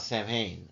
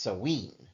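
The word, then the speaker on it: Samhain: Let's talk about Sam Hayne honoring the dead uh which is really more properly pronounced sen right it is the most well-known of the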